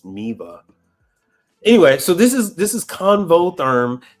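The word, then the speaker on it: Miele: It's Miva, or Miwa. It's W in it's German, so it should be pronounced with a V instead of a W, but it's Miva.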